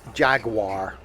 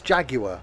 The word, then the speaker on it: Jaguar: Oh, yeah, Jaguar. No, it's Jaguar. It's not Jaguar.